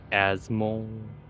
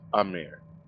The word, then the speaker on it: Amir: Asmol. Am I pronouncing it right? Or... What's your name, sir? Yes. Amir? Sorry? Amir? Amir? Yes, Amir.